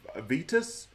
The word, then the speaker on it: Vitas: It's Vitas, V-I-T-A-S.